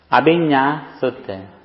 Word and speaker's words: Abhinna: Abhinna. Abhinna Sutta. Is the N the same as in Spanish? Is it an enye? Yes, enye.